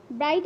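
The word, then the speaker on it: bright: আটটা সাইলেন্ট থাকবে next B আর আই জি এইচ টি ব্রাইট আছে এখানে কিন্তু আমরা জি এইচ টাকে সাইলেন্ট ওয়ার্ড ধরবো আমরা নেক্সট ডি এ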